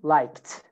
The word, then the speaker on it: liked: it, but it's again liked. I liked. Why? Because the last sound is k. So if the last sound, the last letter is k, or the last sound is k, you pronounce it t.